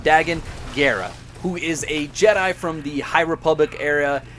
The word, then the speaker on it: Dagan Gera: High Republic named Dagan, I keep saying Dagan, but I'm pretty sure it's pronounced Dagan Gera, who is a Jedi